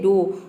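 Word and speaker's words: dough: जैसे कि है डो डो में देखिए ओ य जी एच को हम ओ प्रोनाउंस करें डी का हो जाएगा यहां पे ड और ओ यू जी एच का हो जाएगा ओ पूरा हो जाएगा डो डो मतलब होता है लोई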